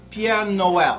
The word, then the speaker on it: Pierre Noël: It's Pierre Noël, because as we all know, they speak French there.